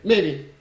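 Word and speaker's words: Mei: May, whatever you pronounce it. It's May. There is no Really? There's no air.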